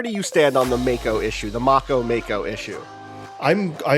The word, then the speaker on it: Mako: I'm on Wikipedia, and it says the A is the A that you would pronounce in father. So yes, I think it's a Mako shark and not a Mako shark, which means there must be some Maori.